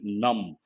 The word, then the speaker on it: numb: Once in Paris, his mood turned increasingly valedictory, with the pain-killing injections needed to keep his leg numb. Numb means without any sensation, and the letter B is silent.